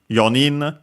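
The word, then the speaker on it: 四人: So to the accent and re for the futari for the under numbers uh uh we have uh sanin accent on the knee yin accent also on the knee also on the knee.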